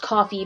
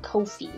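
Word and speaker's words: Ko-fi: in my coffee shop i know it's pronounced coffee but it's not spelled like the word coffee so i keep calling it kofi since it's ko dash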